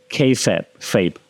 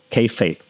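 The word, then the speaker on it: kayfabe: also call in wrestling there's this term called K fape kape right um you spell it k a y f a e k fape okay K fape means you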